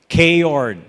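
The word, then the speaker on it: chaord: A K-Ord is spelled C-H-A-O-R-D.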